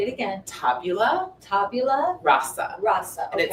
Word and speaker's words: tabula rasa: Tabula rasa. Rasa. And Okay. it's spelled Tabula, new word RASA.